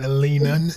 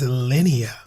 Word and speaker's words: Linea: No bro. It's not Linen. It's not Lena. It's Lennia.